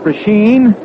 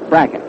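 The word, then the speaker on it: Brazle: h n a lot of folks call it pren but uh he says that he and his family call it bracket that's good enough for us I think the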